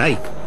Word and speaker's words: Ike: Y le contesté, dicen Ike, que es como se pronuncia en español su apodo.